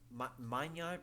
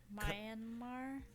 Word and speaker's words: Myanmar: Um, earthquakes, uh, earthquake hit Mayan Mayan. I'm so sorry I pronounced it. Myanmar.